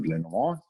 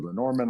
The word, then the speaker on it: Lenormand: in the context of lenan or Len Norman I'll use those words interchangeably um or pronunciations um but is a